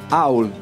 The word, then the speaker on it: Howl: Non si pronuncia Howl. Ma non sai un cazzo, ma niente. È scritto H-O-V-L. Howl. No, Howl. È come How old are you?